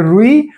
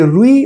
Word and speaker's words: रूई: वाला एक शब्द है तो रुई अपने आप में एक गलत उच्चारण है जबकि उसका सही उच्चारण है रुई ये ये देखें एक शब्द ऐसे भी हो सकता है रुई ठीक है ये भी अपने आप में गलत है इसमें छोटा रू है और छोटी ई है जबकि इसमें क्या होता है बड़ा रू और बड़ी ई होती है तब सही उच्चारण हो होता है रूई ठीक है और एक